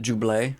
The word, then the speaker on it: Ghibli: can't both be wrong I'm gonna pronounce it jublay oh okay like Buble like gotcha and so